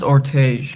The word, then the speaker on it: Ortege: So Matthias says, when you say this, does that mean it's not actually Ortege or Ortega? Sorry, I'm not sure how I pronounce it. It's pronounced Ortege. It's actually Ortege.